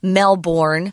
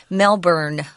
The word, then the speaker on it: Melbourne: talk to any Australians, you'll discover that it's actually pronounced as if it's spelled B-U-R-N, Melbourne.